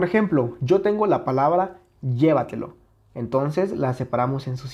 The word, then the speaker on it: llévatelo: que está aquí llévatelo Dónde tiene su sílaba tónica la palabra llévatelo llévatelo claramente está aquí si le quitamos esa